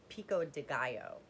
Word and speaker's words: pico de gallo: um they have pico de gallo um or pico de gallo let me say it correctly um flavor they